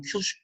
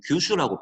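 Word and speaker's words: 九州: 원래 정확한 일본어 발음은 큐슈, 키읔 해가지고 큐슈가 되는데 일단은 우리 책에서는 규슈라고 표기가 돼 있죠.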